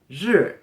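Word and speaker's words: 日: side of the character number two we have sure as you can see this character basically looks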